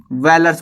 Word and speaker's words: Vellar: वेलर्स बुलाते हैं। क्या? वेलर, VELLAR, वेलर। स्पेलिंग थोड़ी सी अजीब है, वेलर बुलाते थे इनको।